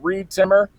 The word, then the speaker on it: Reed Timmer: You can follow me at Reed Timmer, rhymes with weed trimmer, REEDTIMMER.